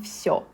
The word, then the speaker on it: всё: In Russian, it will be pronounced like yo in всё. Just a little bit softer, means all, or I would also say that would mean everything.